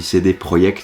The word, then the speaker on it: CD Projekt: par cd projekt oui je dis cd projekt c'est une boîte polonaise donc voilà je le prononce comme les polonais n'en déplaise à certains